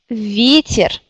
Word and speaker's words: ветер: Le mot ветер. Ветер. En regardant le dictionnaire, quelle syllabe est accentuée? C'est yé. Vie. Vie. Ça veut dire ici, on garde yé.